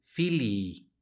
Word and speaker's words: fili: porque en el latín cuando va la misma letra repetida se pronuncian de manera doble en lugar de decir Fili debemos de decir Fili Fili se pronuncia las dos y y lo mismo cuando